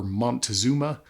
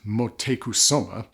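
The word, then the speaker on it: Motecuhzoma: supposed aphrodisiac effects and even the aztec emperor montezuma or if my research is correct apparently it's more properly pronounced motekusoma he credited some of his virility to vanilla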